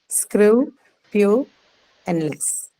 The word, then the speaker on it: scrupulous: It has to be screw, pew, and less.